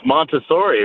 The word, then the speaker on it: Montessori: lose it it's called I think you're pronouncing Missouri wrong huh it's Montessori right it's French I don't speak French I